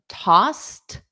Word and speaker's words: tossed: Okay, so notice the pronunciation of tossed. The e d is pronounced as a soft t.